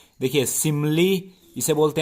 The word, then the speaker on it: simile: इसका चलिए प्रोनाउंसिएशन भी सही करने के लिए बता दूं, इसकी सही प्रोनाउंसिएशन क्या है। देखिए, सिमली इसे बोलते हैं, सिमली जिसे कि उपमा अलंकार बोलते हैं।